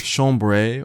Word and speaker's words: chambray: Chambray or chambray, depending on your pronunciation, is another great lightweight